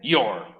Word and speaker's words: your: Y su adjetivo posesivo, bastante simple, your. Se le agrega solamente la R al final. Se pronuncia un poco distinto también. You, your. No es your, your. Como si fuera una O al final.